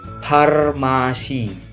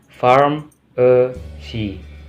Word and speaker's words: pharmacy: Ingat, kalian jangan bilang farmasi untuk mempronounce pharmacy, tapi pharmacy, pharmacy.